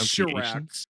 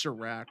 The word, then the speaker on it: Chirac: It's Chirac. It's Chirac. That's real. It's Chirac.